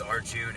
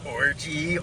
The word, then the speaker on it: Arjun: like tell them like my name is Arjun and nobody would pronounce it right it'd be like what like orgy orange like RJ yeah yeah I've got